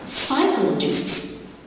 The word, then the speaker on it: psychologists: Psychologists, you got two silent letters, P in the beginning and the H after the C, psychologists.